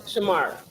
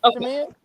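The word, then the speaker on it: Shamea: Angela Britt and Shamar. That's not how you pronounce her name. Shamia. Shamya. Right. Shamia.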